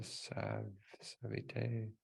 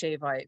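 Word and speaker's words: Ṣavite: It's actually pronounced Shavite, but it's just there's no Right. H in it, so it's tricky Right. like that. Probably a sub dot under the S.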